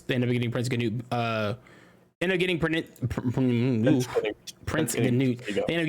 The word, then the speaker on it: Canute: Which, have you seen how his name is spelled? It's like Gnaut, right? No, bro. It's Canut. Yuck. It's Canute. Canute, but Canute. That's Canute. Those letters don't make any sense.